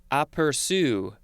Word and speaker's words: aperçu: Next we have a French word that I'm sure I will butcher, but it is something like aperçu. Yeah, sort of. It is spelled A-P-E-R-C-U, and the C has that accent underneath the letter.